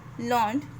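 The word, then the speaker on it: learned: We pronounce it एज लर्नड to rhyme with क्रेटेड weighted.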